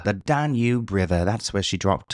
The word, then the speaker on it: Danube: Let's try British. Danube River. Danube River. Oh, I like that better. The Danube River.